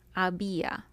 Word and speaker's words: había: Había. Había. And it should be había because the I has an accent mark, so it becomes a strong vowel.